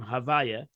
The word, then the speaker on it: Havaya: I put the hey before the yud, so I have changed the word, and that's why I say that's the term Havaya. That's the yeshiva term, as they would say. That's how you say it.